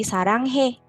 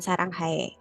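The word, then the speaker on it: 사랑해: Nah, kemudian huruf AE, contohnya di kata sarang hae, itu dibacanya E aja. Jadi sarang he, bukan sarang hae.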